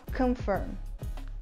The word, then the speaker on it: confirm: Simplesmente, você deixa toda a sua musculatura relaxada e simplesmente solta o ar. Então vai sair Então a gente vai falar confirm, confirm, confirm.